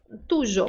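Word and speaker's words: tuyo: gente pode dizer tujo por que que esse Y não é obrigado a ter som de i porque ele está no início da sílaba e não no final tá tuj é composto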